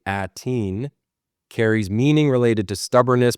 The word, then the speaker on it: Aten: In Mandoa, Aten, pronounced roughly Ateen, carries meaning related to stubbornness, persistence, or enduring determination, often translated as persistent or stubborn.